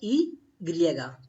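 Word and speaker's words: i griega: Letter Y is pronounced as E griega, E griega, E griega.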